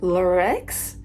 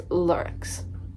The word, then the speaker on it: Lurex: I was pronouncing it Lurex. That is not the correct pronunciation. It's Lurex, which is weird.